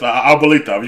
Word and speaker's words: abuelita: Yeah, that's Abuelita.